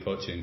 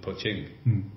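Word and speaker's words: Poching: So you mentioned that we're just even through the middle of this, I've pronounced it Willie Poaching for years, and it's Willie Poaching in the two syllables.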